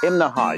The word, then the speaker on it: Imnaha: Now that's 3 syllables, Imnaha. You have to say it that way or people in town will laugh at you.